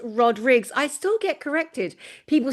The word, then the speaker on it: Rodrigues: It's Rodriguez." I'm like, "No, he told me it's Rodrigues." It's Rodrigues. Yeah, with the S, the Portuguese version.